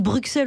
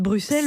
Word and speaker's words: Bruxelles: Vous savez, à partir du moment où tous les Français disent Bruxelles au lieu de Bruxelles, c'est je vrai, me permets...